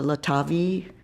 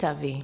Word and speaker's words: Litavi: Um, I'm not familiar with uh Latavi. Is that how it's pronounced? Litavi.